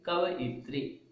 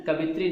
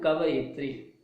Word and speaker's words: कवयित्री: कविता लिखने वाली, कविता लिखने वाली को क्या कहेंगे, कवयित्री। कवयित्री, है ना, कवित्री नहीं बोलिए, कवित्री बोलेंगे तो स्पेलिंग आप रॉन्ग लिखोगे, है ना। तो कोई क्या बोलना है, कवयित्री।